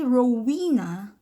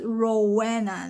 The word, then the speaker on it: Rowena: when if i say rowena they understand it but i thought that's that's not how my name is my name is rowana like rowena is not my name so it's like you